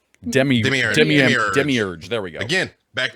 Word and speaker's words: demiurge: by a fourth century scholar not going to pronounce that the concept itself can be traced back to the original misread term uh dimmerage demir demiurge there we go again back to gnosticism we